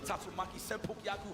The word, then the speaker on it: Tatsumaki Senpukyaku: The Tatsumaki Senpukyaku. Hopefully I said that right. Oh yeah, perfect. Perfect pronunciation as we get the side switch, but